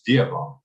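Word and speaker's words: Dewan: Yeah, D-E-W-A-N. That's Divan.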